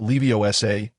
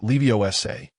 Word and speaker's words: Leviosa: Remember, it's not Leviosa, but Leviosa. The emphasis is on the final syllable.